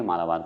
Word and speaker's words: मालाबार: मालाबार तट कहते हैं आप पे डिपेंड करता है मालवाड़ कहिए मालाबार कहिए कोई दिक्कत नहीं है लेकिन मालाबार ज्यादा शुद्ध उच्चारण होता है जैसे कि देखिए केरल